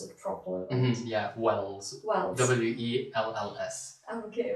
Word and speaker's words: Wells: So you need to be on the safe side to pronounce it properly. Wells.